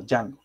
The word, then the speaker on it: Django: Pero no se pronuncia la D, sino Django.